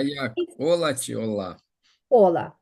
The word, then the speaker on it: hola: літера вона називається аче ця літера ніколи в іспанських словах не звучить Вона може звучати в англійських словах там які є в іспанську за позичення але якщо ви будете бачити це цю літеру в іспанському слові вона буде просто німою цек який знак його не існує і нам треба прочитати тільки оці три літери Як ви їх думаєте що можна прочитати Ола Ола привіт привіт так Вони